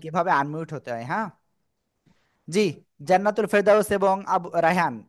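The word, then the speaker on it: ظ: জিহ্বার আগা দাঁতে উপরের দুই দাঁতের আগার সঙ্গে লাগিয়ে মোটা আওয়াজে জ পড়তে হবে। একালিপটা নিয়ে জ উচ্চারণ করতে হয়।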